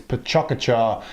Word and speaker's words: Pecha Kucha: asks you about recently there is actually some debate as to how you pronounced this some people say it's Pachuca char and other forms which I won't attempt here is a Japanese person